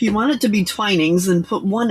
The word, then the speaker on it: Twinings: I didn't know it was pronounced twinings. I don't drink tea. And it's spelled with two N's. And as a teacher of phonics, that means it's a short I so I pronounced it twinnings.